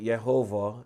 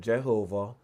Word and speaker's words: Jehovah: You might hear me say Jehovah instead of Jehovah because the J wasn't pronounced as we pronounce the J today.